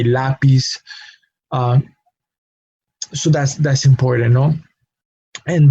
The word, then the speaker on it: lápiz: We do not say lápiz, we say lápiz.